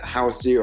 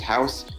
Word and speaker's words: Houce: It's not to be confused with a house as a building, but it is pronounced that way because I've heard some people pronounce it Housey or Houses or whatever, but it's just Houce, and that's kind of